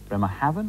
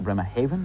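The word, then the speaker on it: Bremerhaven: bremar Haven and Hamburg bremma Haven or bremar Haven depending which way you want it and Hamburg which shipping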